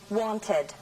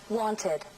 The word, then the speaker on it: wanted: want, wait, visit, need, se debe pronunciar ed como última sílaba. Así pues, se dice want, wanted, wait, waited, need, needed.